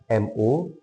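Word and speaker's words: μ: U terbalik dibacanya M U atau mu dan yaitu ro.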